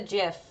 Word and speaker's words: GIF: because it's a gif or Jif it's a jiff I know they're so dumb because choosy dubs choose jiff that's how it's pronounced anyway yeah when you actually load it